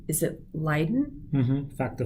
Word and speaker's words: Leiden: she had a v factor v is it lyden factor v leiden oh okay factor five leiden yeah um if